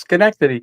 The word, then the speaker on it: Schenectady: Oh, Schenectady. The name on the side of the squirrel. So when I was in that video, I got so many people telling me it's Schenectady.